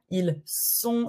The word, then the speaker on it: ils sont: It's not like a Z, it's S. Donc, une salle, ils sont. C'est la règle du S. When the S is the first letter of the word, we say S, comme salle, sont. C'est pour ça qu'on dit S.